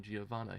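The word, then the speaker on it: Giovanna: shaft magnet but gez because of the Italian pronunciation shobana is called GI giovana here shobana is the same as giovana and his hair is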